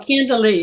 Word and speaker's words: Candilee: About the incredible world of astral travel and spiritual exploration with author Candilee. Is it No, that? Candilee, you were right the first Candilee. time. I was always pronouncing it right.